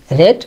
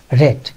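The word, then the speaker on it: read: ব্যবহৃত হবে তাহলে রিড রেড রেড এর শেষ ফর্মটা হচ্ছে রেড বানান একই রকম দেখলেও কিন্তু উচ্চারণটা একই রকম নয় সুতরাং আই হ্যাভ রিড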